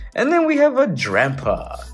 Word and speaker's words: Drampa: And then we have a Drampa. Rhymes with Grandpa.